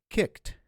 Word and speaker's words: kicked: But it is pronounced as a T for the verbs that end in voiceless consonants. So kicked, kicked, flopped, huffed. All right, so it becomes a soft T sound.